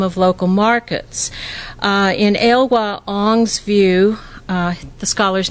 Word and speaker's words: Ong: to the dynamism of local markets in elwha aung's view the scholar's name last name is spelled ong this neoliberal logic is conceptualized as